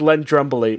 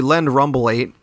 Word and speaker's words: Len Rumblate: All right, Dave, please tell me what you think Len Drumblate means. All right. Well, first of all, you're pronouncing it wrong. It's actually Len Rumblate.